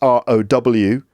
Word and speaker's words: row: and that's to row that's r o w right that's same spelling as raal but the pronunciation is row yeah sorry English what